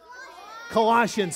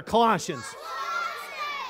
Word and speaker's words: Colossians: Bible kids called Colossians can you say that word Colossians say it louder Colossians say it like you say Miranda alright good Colossians sorry